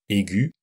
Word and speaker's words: aiguë: Même chose avec l'adjectif aigu au féminin, une voix aiguë, avec un tréma pour qu'on entende le U.